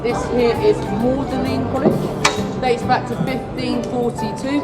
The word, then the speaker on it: Magdalene: He went, you will pronounce the G silently, turning Magdalene to Magdalene, Magdalene College, like Audley College, his name.